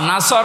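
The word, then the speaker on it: نصر: সোয়াদ আছে নুন সোয়াদর নাসর মানে সাহায্য নাসর মানে কি কেউ যদি মুখটা গোল না করে সোয়াদ বাদ দিয়ে সিন বলে উচ্চারণ করে ইদা নাসরুল্লাহি ওয়াল নুন সিন রসুর মানে ইগল পাখি কথা বুঝতেছেন আকাশ পাতাল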